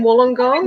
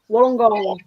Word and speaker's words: Wollongong: Wollongong's one of them. Wollongong. Just say it fast. Just be saying it right.